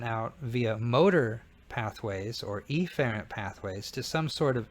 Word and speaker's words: efferent: We can call this efferent. Some pronounce it efferent, but again, it's good for me when I learned it to learn afferent toward and efferent away, and stressing the A and the E helped me.